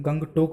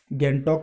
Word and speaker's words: Gangtok: हिसाब से आप इसे गंगटोक भी बोल सकते हैं है लेकिन अ आपको यह याद रखना है कि यहां का सूजी है वह साइलेंट है है क्योंकि हमारे